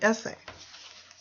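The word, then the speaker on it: esse: word ESS e essay the way it's pronounced is simply essay remember also that the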